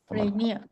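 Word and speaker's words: Rainier: Is it Raineia or Raina? Raineia.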